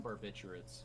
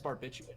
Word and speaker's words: barbiturate: it's barbiturate. I think that the second R is I- silent.